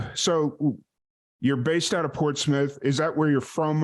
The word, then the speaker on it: Portsmouth: You're from Portsmouth. Did Yes. I pronounce that correctly?